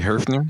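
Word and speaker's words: Höfner: Now but we're talking about Hofner. Wouldn't it it's got an umlaut. Wouldn't you say Herfner? It'd be Herfner really. I mean if you're going to say it right.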